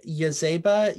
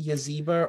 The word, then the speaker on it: Yazeba: And could you say I say Yazeba, Yazeba, or Yazeba. So any of those three, those are mine.